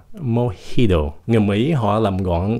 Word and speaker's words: mojito: Thật ra cái chữ này không phải phát âm là mojito, nó là mojito. Mojito. Tại cái gốc của cái từ này là của Tây Ban Nha, cho nên cái chữ J của nó không phải là âm J, nó là